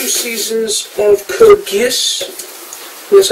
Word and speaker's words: Code Geass: And I also picked up the first 2 seasons of Code Geass. That's how you pronounce it.